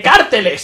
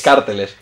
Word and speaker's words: cárteles: ¿Cómo se dice? De cárteles. Cárteles. Cárteles. ¿Ves lo que...? Las guerras empiezan cuando no pones bien el acento en los sitios.